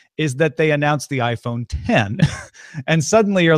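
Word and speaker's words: iPhone X: inch phone called the iPhone 10 it's spelled with an X but it's pronounced 10 has a glass front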